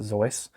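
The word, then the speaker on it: Seuss: old Dr zoy and you're supposed to pronounce it zoy um but I just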